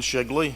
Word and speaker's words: Shigley: My name is Shigley. It's a funny name at the bottom of the alphabet, rhymes with Piggly Wiggly.